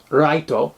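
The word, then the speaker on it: 月: It's the kanji for moon, but it's pronounced Raito, which also sounds like right or righteous, but we're kind of stuck with the light, which is, light versus dark.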